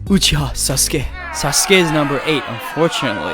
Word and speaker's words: Uchiha: you to know that uchiha the one ha the last hiragana is actually a particle that could be pronounced both as ha and wa and uchiwa is a fan like